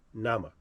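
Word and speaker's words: Naamah: now n a a n a a m a h Nama right that's how I pronounce it Nama it could be wrong but I said Nama so now Zilla has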